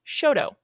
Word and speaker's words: Choteau: And CHOTEAU is Shoto.